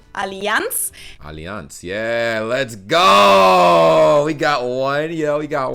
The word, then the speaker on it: Allianz: insurance bro i'm tweaking most americans call it allianz alliance is it alliance alliance the correct german pronunciation is allianz yeah let's go we